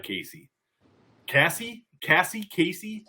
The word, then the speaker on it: Caissie: you doc I I I really like Casey Cassie Cassie Casey how do you say that Casey Casey okay uh so I'm on board I